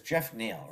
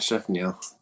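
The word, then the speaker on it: Geoff Neal: Does he pronounce it Jeff or it's Jeff Neal, right? Yeah, Crazy. All right. not Chef Neil.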